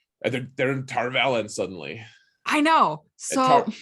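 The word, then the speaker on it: Tar Valon: they were all moving around and going to Tarvalon. Yeah, um we can call it the right way. We can right, pronounce it the correct way.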